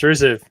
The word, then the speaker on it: Rusev: Yeah, Rusev. It's Rusev.